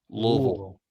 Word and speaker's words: Louisville: You got to just roll everything together. Louisville.